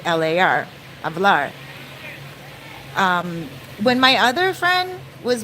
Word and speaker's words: hablar: but it's hablar it's H a B L a R but the H's are not pronounced in espanol in Spanish so it's pronounced hablar